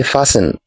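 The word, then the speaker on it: fasten: U is silent next the silent letter in this word is letter letter T we don't say fasting we say fasting T is silent in this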